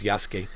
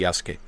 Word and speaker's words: Yasuke: he did play as Yasuke and he can tell you more about the Yasuke uh not Yasuk they call him Yasuke Yas that's how Japanese pronounce it same thing with uh